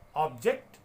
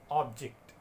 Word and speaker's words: object: This word again has two pronunciations, object and object. Object is a noun and object is a verb.